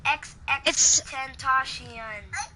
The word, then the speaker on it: XXXTentacion: You get it wrong for saying the name wrong. It's XXXTentacion.